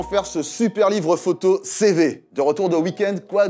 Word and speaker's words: CEWE: livres photos c'est-elle CV ce W ça se prononce CV allez on passe en